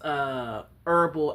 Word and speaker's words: herbal: It's funny when people pronounce herbal as herbal or herbs. Just pronounce things right. It's herbal tea. I mean, wait, herbal. No, it's herbal tea. It's herbal freaking tea.